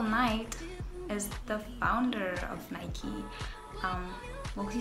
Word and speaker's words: Nike: yes it is pronounced nike all my life i would say nike and actually nike because nike was named after a greek goddess who is the goddess of victory um so if i